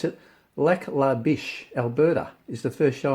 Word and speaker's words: Lac La Biche: With I'll try to pronounce it. Lac La Biche, Alberta, is the first show on May 12th, I believe.